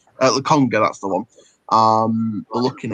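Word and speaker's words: Lokonga: In terms of Arsenal, I mean, looking at obviously Basuma, looking at this 17-year-old kid, Albert Sambi Lacombe, I think it's pronounced. Laconga, that's the one.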